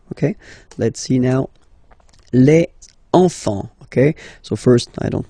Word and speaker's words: enfants: Same pronunciation here. Enfant. Don't pronounce the T, you don't pronounce the S.